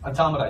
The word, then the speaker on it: automata: brand let me explain automata automata yeah it rhymes with Mahna easiest way to remember